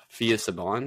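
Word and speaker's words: Phia Saban: It's Fia Saban. It's Fia Saban. Yep. That's how you pronounce her name.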